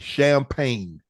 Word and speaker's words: champagne: we have for you is champagne why you giving me words with uh Whatchamacallit in it man with the silent G man yes so you don't have to say it it's silent so don't say it just spell it all right champ like